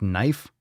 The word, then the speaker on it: knife: need to be there like knife I don't like that you don't need that K it looks we're without